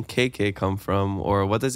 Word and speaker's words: Keke: But when I was little, my little sister couldn't say, so she said KK. And my family just started referring to me as KK. And it's spelled K-E-K-E.